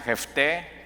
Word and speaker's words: Jefté: Después tienes a Jefté, con acento en la E al final.